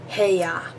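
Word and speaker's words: 部屋: But you also see it in a word, in the word for room, which is pronounced he. Heya. And that's the only time it's pronounced he.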